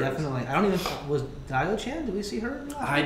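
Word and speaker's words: Diaochan: There's Dio-chan. Or Dio-chan, however you pronunciate it. Yeah, I say Dao-chan? Dao-chan. Dao-chan. Yeah. Dave taught me that.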